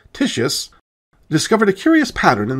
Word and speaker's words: Titius: In 1766, a German astronomer named Johann Daniel Titius, who Latinized his name to Titius, which, because this video already has 1 unintentionally hilarious name to deal with, I will pronounce Titius, discovered a curious pattern in the order of the planets.